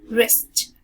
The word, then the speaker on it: wrist: So whenever we get a combined consonant like W and R, so the W is silent, so we say r, wrist, r, wrist, r, wrist.